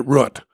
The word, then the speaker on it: route: person that wrote it pronounced it rut that's my rhyme with foot but it's really really